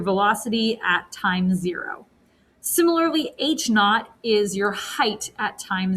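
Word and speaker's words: h₀: nothing okay and this one when you'd say h naught okay so that's how you pronounce that and all that that means is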